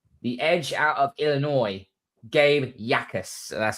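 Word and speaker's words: Gabe Jacas: And New England have taken the edge out of Illinois, Gabe Yakas. So that's how you pronounce it.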